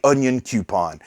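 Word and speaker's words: Onyankopon: i struggled to pronounce onyon kapon's name the first time i saw it and it was people in the comments that said the easy way to do it is to say onion coupon so it comes full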